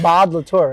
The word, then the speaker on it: Maude Latour: for I love her music, but I can't pronounce it. Maude Latour, right?